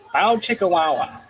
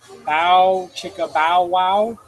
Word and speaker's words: bow chicka bow wow: See, I always do bow chicka wow wow. So bow chicka bow wow.